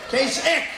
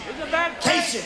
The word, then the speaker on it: Kasich: In fact, most people don't even know how to pronounce his name. Kasich. Pretend it's a K. Kasich.